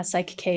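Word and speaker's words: Psych-K: Is it Psych K? Is that how you say it? Yeah, Psych K is one of them.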